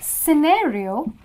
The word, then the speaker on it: scenario: again C is silent then is scenario where you're using the pronunciation of the letter s instead of C okay then there